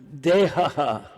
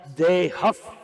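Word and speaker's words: देहः: So the word dehaha should be pronounced dehaf because the next syllable is p, pa. Dehaf.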